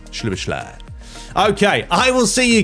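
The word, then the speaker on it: Szoboszlai: Honestly, I'm glad that the commentator said his name, because when I saw that, I was like, how on earth do you pronounce that one? But yeah, it's Shibashly.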